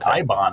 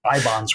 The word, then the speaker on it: Eibon: That's a famous fictional book, and they pronounce it Ibon in the movie. I always thought it was Ibon, but it's didn't quite